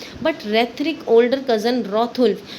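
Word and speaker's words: Hrethric: Then रेथरिक के बारे में बात करते हैं। यहाँ पर एच साइलेंट है इसलिए रेथरिक बोला जाता है।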